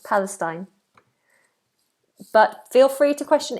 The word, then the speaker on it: Palestine: because I'm not always 100% correct Palestine Palestine that's how it's pronounced Palestine but feel free to question if you're if